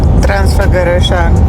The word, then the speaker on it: Transfăgărășan: Transfăgărășan.